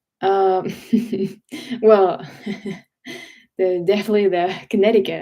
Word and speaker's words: Connecticut: Um, well, definitely the Connecticut accent, especially because they don't pronounce the C in the middle, and I just find it.